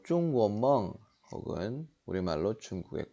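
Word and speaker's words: 中国梦: 중국몽이라고도 하고 중국 발음으로 중구원멍 혹은 우리말로 중국의 꿈 얘기입니다.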